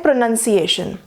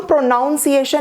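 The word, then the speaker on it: pronunciation: इसे हम प्रोनाउंसिएशन नहीं कहेंगे, यहाँ नाउन है, यहाँ नन है।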